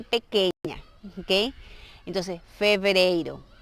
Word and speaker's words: fevereiro: Entonces, fevereiro. Y siempre tratar de pronunciar bien la V.